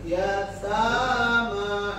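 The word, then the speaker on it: يتامى: Yatama sama dengan Bentar, dari Rin suaranya dibuka ya. A-nya dibuka. Yatama.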